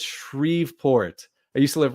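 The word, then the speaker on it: Shreveport: in my last video I uh pronounced shrevport but it's shreport I used to live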